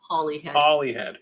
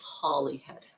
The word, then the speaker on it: Holyhead: did and oh here we go holyhead is pronounced Holly Holly head yeah okay we'll never get that wrong from this point on yeah yeah okay we can't guarantee that but it's Holly head holyhead okay which is right across from I